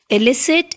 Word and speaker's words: elicit: the letter i is elicit and illicit again both the words have different spellings but they are pronounced in the same manner it means we must